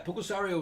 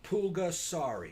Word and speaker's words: Pulgasari: Yeah, Pulgasario was good.